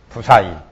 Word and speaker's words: 부사의: 지정상과 부사의 업상. 여기 지정상하고 부사의 발음을 부 그럽니다.